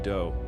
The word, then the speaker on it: Do: This guy Marshall Appawite, but his friends called him Do which rhymes with Joe.